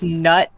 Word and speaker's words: Knut: to that probably um the hell is nut white bear spelled with a k what it's knut white